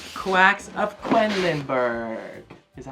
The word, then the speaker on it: Quedlinburg: It's Quacks of Quedlinburg.